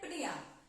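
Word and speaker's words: pnea: कैसे प्रोनाउंस करते हैं? प्निया, ठीक है। थोड़ा सा वो है लेकिन उसको ऐसे ही प्रोनाउंस करते हैं।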